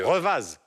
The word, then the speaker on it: Revaz: Revaz. Revaz, oui. Qui se prononce Revaz en Suisse, on ne prononce pas le zen.